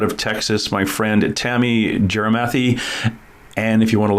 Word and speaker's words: Gyarmathy: texas my friend tammy jerimathy and if you want to look up jeremathy it's actually g-y-a-r-mathy like gyromathy but it's pronounced jeremathy i'm to call her